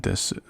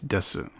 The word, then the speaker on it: desu: A lot of people say des without the U sound at the end. So there's going to be special things that are just a result of people speaking quickly, you know. Technically it's desu.